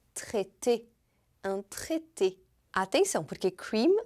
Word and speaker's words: traité: E o AI em francês tem som de E ou então de E. Por isso que traité se escreve com AI no meio.